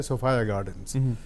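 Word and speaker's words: Sophia Gardens: Match हो रहा है सोफाया गार्डन में, अक्सर लोग इसको सूफिया गार्डन कहते हैं, असल में करेक्ट प्रोनाउंसिएशन इसका है सोफाया गार्डन्स।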